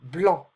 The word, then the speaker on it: blanc: Un sac, un bac, but we don't pronounce the C here. Blanc.